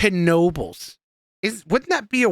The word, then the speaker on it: Knoebels: feel like it is wouldn't it just be Nobles no it's Knoebels I don't think so I'm been there four